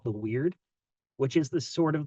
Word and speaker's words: Wyrd: And it's a play on words because the Wyrd is taken from a Norse word called meaning fate or destiny, and we're pronouncing it like the word that means strange.